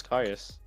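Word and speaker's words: Caius: How do people pronounce Kais? Kais the shadow monarch. Kais the shadow monarch. There's no other way to say it, right? Kais. It's Kais. Kais.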